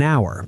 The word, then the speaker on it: hour: An hour, because hour is silent, but a house, because you hear the H.